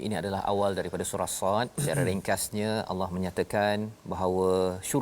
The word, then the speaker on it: ص: Jadi Sad, ada yang orang baca Sad je, Sa macam tu je. Cara baca dia kena ikut tulisan asal dia. Sad alif dal.